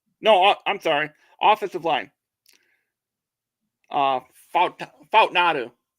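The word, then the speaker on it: Fautanu: Fautnadu. Fautnadu, yeah.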